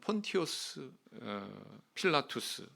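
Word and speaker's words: Pontius Pilatus: 거기에 놀랍게도 본디오 빌라도 라틴어로는 폰티우스 필라투스 이렇게 발음을 하지요 이름이 선명하게 여기 딱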